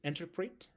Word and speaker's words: interpret: It's interpret. Interpret, the second syllable is stressed.